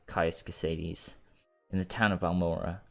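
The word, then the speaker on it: Caius: ] sake I used to call him like chaos Crusades but I think it's pronounced case in the town of balmora go to the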